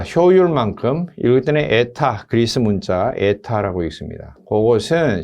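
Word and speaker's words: η: 자, 효율만큼 읽을 때는 에타, 그리스 문자 에타라고 읽습니다.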